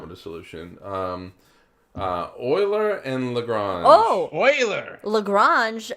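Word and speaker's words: Euler: have three bodies for those of you listening Oiler is spelled e l r right he was he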